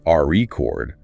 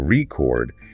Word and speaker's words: record: is the word record if you stress the first syllable re chord it's a noun like a vinyl record but if you shift the stress to the second syllable record it becomes a verb the act of recording something so just by changing